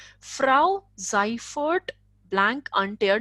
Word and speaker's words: Frau: as we have done au has the sound of ow Frau ciphered blank intere not